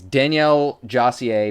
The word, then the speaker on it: Daniel Josier: time I did it I think it's Danielle jier mystery oud um bit